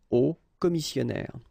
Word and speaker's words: hauts commissionnaires: So you put the S at the end of both things here, okay, but then you don't pronounce them. So it will be phonetically almost the same, okay, in most of the cases.